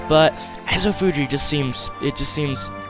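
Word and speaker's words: Ezofuji: now i knew that i know that azo fuji is actually technically pronounced azo fuji because these are a's in in japanese but as a fuji just seems it just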